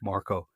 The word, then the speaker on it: Marco: because she pronounced my she called me Mark and I said no my name is Marco and she was